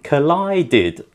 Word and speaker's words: collided: sounds likeed collided H collided again you got the idea Collide finished with a D sound already therefore Ed sounds like did collided washed oh that's very